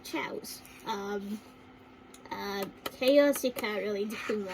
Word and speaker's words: Chao: So So again, basically, chows or more is still pronounced as chows.